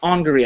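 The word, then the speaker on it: Angourie: young angry rice um and angry rice angry I think is how they pronounce it um she's also she's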